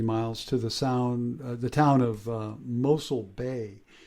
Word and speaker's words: Mossel Bay: all but I think although it looks like Mosul, I think they say Mossel Bay or something to that effect. But I could be wrong. The Afrikaners call it that.